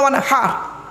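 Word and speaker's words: وَانْحَرْ: ফাসাল্লি লিরাব্বিকা ওয়ানহার, কি বললাম? ফাসাল্লি লিরাব্বিকা ওয়ানহার, উচ্চারণটা ঠিক রাখুন। ওয়ানহার, ওয়ানহার নয়, ওয়ানহার। এই গলার ভেতর থেকে এটা উচ্চারণ করবেন, ফাসাল্লি লিরাব্বিকা ওয়ানহার।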